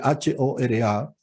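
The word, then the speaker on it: होरा: Hora en sánscrito se escribe H-O-R-A y obviamente la H suena, Hora.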